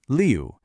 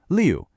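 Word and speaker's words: 六: And here we have 6, pronounced liu. This is another one of those falling tones, just like we heard with the number 4, liu.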